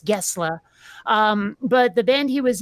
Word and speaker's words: Gessle: and by the way, his name is spelled Gessle. I thought it was Per Gessle for the longest time, but no, it's Gessle.